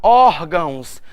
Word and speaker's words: órgãos: Quando eu parto para órgãos, a minha sílaba tônica está em OR. Então eu sei que ela é uma paroxítona.